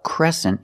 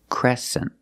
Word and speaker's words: crescent: shape this is a crescent shape and this word has a different pronunciation e make the e sound like eggs and bed e Cresent Crescent this is a crescent